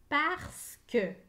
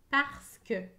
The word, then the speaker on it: parce que: eux que pu eux parce que parce que j'entends chaque lettre dans le mot parce sauf le e à la fin la lettre e et muette parce que le sens